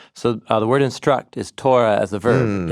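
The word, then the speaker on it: תורה: Torah rhymes with the word light, which is or.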